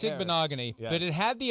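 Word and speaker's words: Igbinoghene: It's Igbokwe, yeah.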